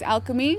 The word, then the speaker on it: Alkeme: long time I'm so I'm Alka but with these types of things it's Alchemy so it's kind of alka and me Alchemy or Alchemy I think